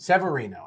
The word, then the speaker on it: Severino: And I pronounced Severino. That? Severino.